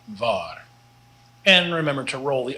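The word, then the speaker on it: waar: dot var means where the w is just like the v like in vot but the double a here is long so it's an ah and not an ah so and not var and remember to roll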